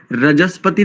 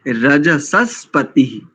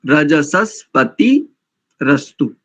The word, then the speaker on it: रजसस्पतिरस्तु: एक स्थान पर थोड़ा सा चूक गए, रजस्पति नहीं करेंगे, रजसस्पति, रजसस्पति रस्तु, ऐसा करेंगे।